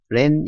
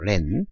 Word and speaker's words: LAN: 이긍 것 이는 우리가 lan 이라고 해서 로 칼 엘 이어 네트워크 읽을 때 여러분들은 렌 이라고 읽어주십시오 렌 렌 그러면 무슨 뜻이